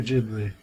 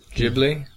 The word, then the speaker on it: Ghibli: Ghibli or Ghibli? Ghibli. Yeah, it's a Japanese pronunciation.